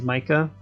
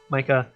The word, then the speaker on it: Mika: I'm going to say Micah because I don't know how to really pronounce that. Yeah, M-I-K-A is Micah.